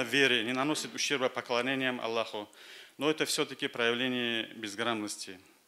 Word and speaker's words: Аллах: Даже есть стремление правильно произносить слово «Аллах», употребляя вместо русского «ха» в конце английское, латинское «h».